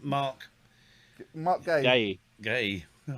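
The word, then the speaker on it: Guéhi: Mark Gay.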